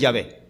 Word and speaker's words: Yahvé: Es más, la mayoría de los eruditos bíblicos coinciden en que en verdad la verdadera pronunciación del nombre es Yahvé, no Jehová.